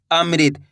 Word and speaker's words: अमृत: ऋ करके उच्चारण निकालना है। अमृत। बस इसी तरीके से इनको पढ़ा जाता है।